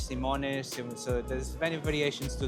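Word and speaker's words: Simões: So it's like saying Simoyes. Yes, Simoes. Simoes. Yes. Simoes. Yes. May I call you Mr. Simoes or would you rather I.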